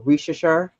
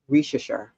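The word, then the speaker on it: Risacher: Rishashar? Yeah. It's almost sound like the candy. Rishashar.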